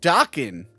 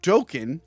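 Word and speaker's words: Dokken: back then what um the band is pronounced docking not token as I said several times sorry uh Nancy's dad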